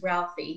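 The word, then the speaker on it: Ralfy: His name is Ralphie. He's an undertaker from Scotland, and it's spelled R-A-L-F-Y.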